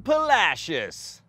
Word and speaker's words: Palacios: deep as the gulf itself making splashes in Palacios yes that is how you say that